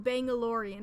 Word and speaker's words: Bangalorian: Oh, Bangalorian. It's like Mandalorian.